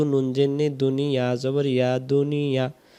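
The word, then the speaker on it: دنيا: যদি দুনিয়া হয় দাল পেশ দু নুন জেনে দুনিয়া জবর ইয়া দুনিয়া, বাংলাতে আমরা দুনিয়াতে বলি, কিন্তু আরবিতে সঠিক আমরা যদি উচ্চারণ করতে যাই, পেশ সাকিন এবং জবর মিলে দুনিয়া।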